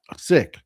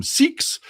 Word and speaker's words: Sikhs: I know it's sick, but for Americans, that sounds like you're saying sick. Sick. And they don't get it. And we've all grown up calling them siks, even though it is absolutely incorrect.